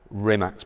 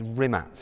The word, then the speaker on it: Rimac: on Bugatti products and Rimac's products. Yes. I'm saying it kind of half correctly. It's Rimac, isn't it? Rimac, yeah. It's a Croatian way of pronouncing Rimac.